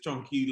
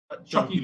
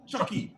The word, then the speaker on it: Chucky: We also have Enrique Mata, who is Chunky Lon, right? That's how you pronounce that? Chucky, no N. Chucky, yeah, Chucky Lon.